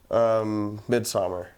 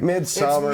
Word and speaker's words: Midsommar: You know, but Midsummer was and don't pronounce it like a fucking douchebag. Midsummer. Midsummer. Who cares? Midsommar.